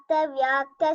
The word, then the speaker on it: vyakta: Say the word, the syllable Vya. Vya. Yes. So keep practicing. Vyakta, Vyakta, Vyapini. You have to practice Vya.